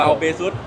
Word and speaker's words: Baseus: ฝาก แ ก็ เุ อ่าน ว่า เบซ นะ ครับ ผม แล้ว ก็ ถ้า คิด อะไร ไม่ ออก นึก ถึง หน้า น้อง กัฟ ไว้ นะ ครับ ของ เรา เบซ มี น้อง กัฟ เอ